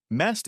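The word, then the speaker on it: месть: Mest is the pronunciation of the word revenge in Russian.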